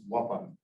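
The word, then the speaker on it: وطن: and you'll forgive me, I'll use the Arabic pronunciation, his watan, which you rendered as homeland.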